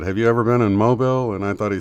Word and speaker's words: Mobile: I think coming from Tulsa, we went through Mobile, Alabama. Yeah, you got to put that southern accent on there. It's not right. Mobile. Got to go to Mobile.